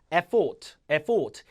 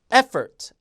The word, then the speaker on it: effort: 이걸 여러분 만약에 event 이렇게 발음한다든가 effort 이렇게 발음하면 아예 못 알아들어요. 그러니까 effort, event, recently가 아니라 recently 요 중간 음절은 쓴으로 죽이게 돼 있거든요.